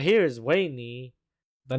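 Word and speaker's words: Weynie: became my baby and uh right here is wayney the name is pretty weird but uh her name is spelled w-e-y-n-i-e and my first love named her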